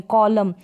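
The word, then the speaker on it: column: Spelling है म में, कॉलम। एन का यानी न का तो कोई उच्चारण ही नहीं है इस एन का, ये एन तो है यहाँ पर साइलेंट, इसको नहीं पढ़ा जाएगा।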